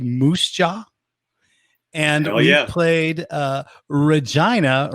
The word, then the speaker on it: Regina: No, it's Regina.